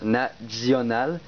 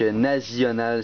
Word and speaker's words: National: on le fait mais il ne prononce pas le National il prononce Nazional donc Nazional socialiste ce qui donne